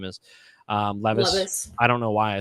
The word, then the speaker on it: Levis: Levis.